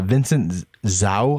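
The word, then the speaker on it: Vincent Zhou: was it was uh vincent zao i think it is how you say it zoo z-h-o-u he's a u.s olympic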